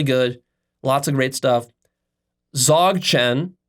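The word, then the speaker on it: Dzogchen: lots of great stuff Zog Chen which is spelled d z o Chen Z Chen it's a sort of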